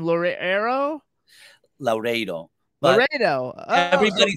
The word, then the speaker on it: Laureiro: So it's Laredo. Yes.